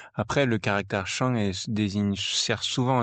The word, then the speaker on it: 生: je me rappelle bien c'est un autre caractère de premier ton oui c'était Chan ouais Chan s o premier ton ouais Chan qui veut dire